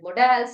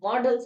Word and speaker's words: modal: educators call it modals, some call it models. I prefer calling it models. Okay. So in between, I used to call it modals only, but then I thought, then I checked the pronunciation and it can be called either ways.